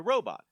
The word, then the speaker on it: Robo: Uh, we get to the other side and find a robot. Luca decides to fix this robot. The robot is called Robo. Rhymes with Tobo.